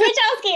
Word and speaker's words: Machowski: I'm going to say his name wrong because I said it wrong for too many years. Marty Machowski. Is that right, Amy? Yeah. Okay. I think it's Machowski. It's Machowski.